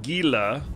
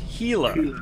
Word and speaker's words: Gila: so yeah uh so it's not pronounced Gila it's pronounced heila like an H thank stamp this is